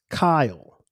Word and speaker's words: Kyle: My name is pronounced Kyle.